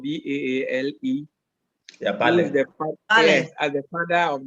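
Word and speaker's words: Baale: I came across the use of the Bale, which is spelled B-A-A-L-E. Yeah, Bale.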